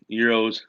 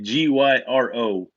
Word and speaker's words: gyro: You're talking about a euro, like a GYRO. I mean, some folks call it a gyro. When you get the Mediterranean, you get the lamb or the beef, whatever. I mean, I think it's supposed to be called a euro, right? But a lot of people call it a gyro. They just say it phonetically.